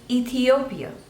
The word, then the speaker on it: Ethiopia: England England next is Ethiopia Ethiopia so there are fourth labels and you have to stress on the third one Ethiopia Ethiopia Ethiopia Ethiopia